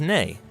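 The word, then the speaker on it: nei: Hello in Icelandic is pronounced halló. Thank you is takk. Yes is ja. No is nay.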